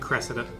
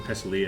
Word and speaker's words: Cressida: Is that how you say her name? Cressida. Cressida. Isn't it Cresselia I think it's a Pokemon. That's a Pokemon.